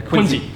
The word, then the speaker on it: Quincy: venue down there so i finally know how to say it right the locals have been teaching me all week it's the afrikaans english accent i have it doesn't quite ring off the tongue quincy i've got to say